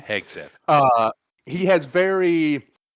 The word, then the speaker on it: Hegseth: A guy like a Hesketh, how do you say that name? Hegseth.